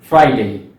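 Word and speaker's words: Friday: हमारा अगला जो दिन है उसका प्रोनाउंसिएशन बहुत ही सिंपल है और ज्यादातर लोग इसका जो पहला पार्ट है वो बिल्कुल सही प्रोनाउंस करते हैं, दैट इज फ्राइडे। लेकिन सेकेंड पार्ट में प्रॉब्लम आती है। सो याद रखें, जो हमारा थंब रूल है कि आपको जो डे है उसको डे ही कहना है।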